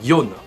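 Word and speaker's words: よん: 9 1 6 4 au lieu de prononcer chic il homophones de la mort le prononcera youn le chiffre 7 ou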